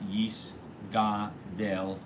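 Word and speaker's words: יִתְגַּדַּל: And you should also make sure they make the g sound in Yis Gadel also very, very focused, and make sure that you really pronounce Yis Gadel the Yis Kadesh.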